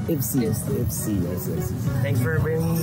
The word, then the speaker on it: IFXY: Oh, that's how you pronounce it. Yeah, Ipsy. Ipsy. Ipsy, yes, yes.